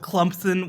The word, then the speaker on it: Clemson: right that makes and and that silent p and Clemson you know like somebody that out to me when you don't when you're not familiar with the school you're like wait what that's how you know I love it or South Carol some South Carolina car Carolinians say it Clemson Clemson like a clump yeah I think it's